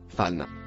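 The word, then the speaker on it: فإن: Le premier mot, rouge, se prononce, fan.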